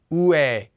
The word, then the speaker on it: ㅞ: Ue, ue, ue. Notice that it sounds almost the exact same as the previous two diphthongs we just did. Feel free to say it the same way, but you still need